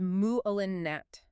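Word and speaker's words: malignant: The opposite meaning cancerous is muolinet. The heavy emphasis hits right in the middle almost like the word itself is aggressive. The surgical team moved quickly once they realized the tumor was mulin met.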